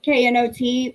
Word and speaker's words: knot: like not k uh knot for like when you tie a knot the the k is silent oh congrats nancy that's